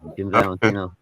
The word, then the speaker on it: Jim Valentino: Yeah, Jim Valentino.